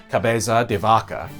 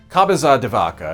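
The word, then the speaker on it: Cabeza de Vaca: a Spanish explorer named and I hope I'm pronouncing this right Caba deaka washed ashore on a raft one of the few survivors of a disastrous Expedition launched by Santo Domingo the year before cabaza devaka ended up spending several years living among the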